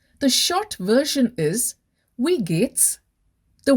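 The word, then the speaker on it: geht's: short version is we gates the we w i e like in we in english w e means how get g e h t pronounced as g-a-t-e in english comes from gehen which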